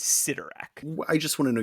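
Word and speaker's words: Cyttorak: Can you think of another word that starts with CY that is pronounced si instead of psi?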